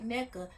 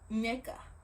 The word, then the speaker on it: Nneka: Girl, no, tell them this is how you say your name. Not Nneka, Nneka.